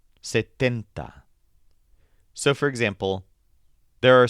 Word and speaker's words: setenta: And then the word for 70 is setenta. This stresses tent. Setenta.